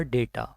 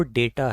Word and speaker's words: data: First है हमारा डेटा, information collected for यूज़, आंकड़े या सूचना। इसकी जो राइट प्रोनाउंसिएशन है वो डेटा है। अक्सर हम इसको डाटा बोल देते हैं विच इज़ रॉन्ग प्रोनाउंसिएशन।